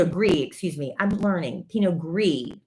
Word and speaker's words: pinot gris: excuse me i'm learning pinot gris i always thought you pronounced the s on them but you don't pinot noir glitz and